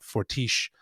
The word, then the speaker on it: Fortiche: Like it's it's just packed with so much detail and like uh I'm going to probably butcher the name, but Fortish Studios.